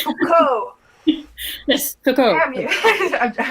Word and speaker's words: Foucault: don't pronounce the T. It's Foucault.